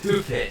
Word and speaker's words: Hubei: It's pronounced Hubei.